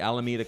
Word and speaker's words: Alameda: I am going to be at the Alameda Comedy Club in the Bay Area.